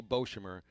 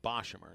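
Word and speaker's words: Boshamer: would bo uh boshimmer i think i've been pronouncing it incorrectly for a while bob i want to say beauchamer dave nathan the voice of rady of carolina baseball pronounced it boshimmer so we just got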